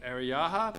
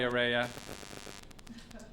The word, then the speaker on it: Araya: Is it Ariyaha? Araya, sorry, Araya.